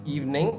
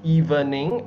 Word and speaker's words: evening: And I've heard someone mispronounce evening as evening, okay? The VE in the middle is silent.